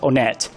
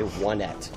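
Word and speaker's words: Onett: gets weird and dark that should be how it's pronounced because that's how anybody would say it the first time they played the game no one would say one at if you were saying that in English yeah yeah if you just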